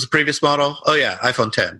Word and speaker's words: iPhone X: Yeah, like I did with when the iPhone 10 came out, and on my signature at work, I had iPhone 10 spelled out phonetically, so that people could see that it's not iPhone X.